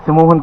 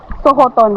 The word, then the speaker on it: Sohoton: Sumuhon Cave. Tama ho ba yung pronunciation? Sumuhon? Sohoton. Sohoton. Sohoton. Sohoton Cave pala.